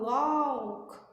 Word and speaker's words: walk: Detalhe para a pronúncia dessa palavra, a gente não fala walk, walk, não, certo? A gente não pronuncia esse U ou esse L. É um O seco a pronúncia dessa palavra.